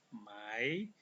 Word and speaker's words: Mai: Januar, Februari, Maret, April, bulan Mei disebut Mai, bukan Mei, Mai, Januar, Februari, Maret, April, Mai, bulan Juni.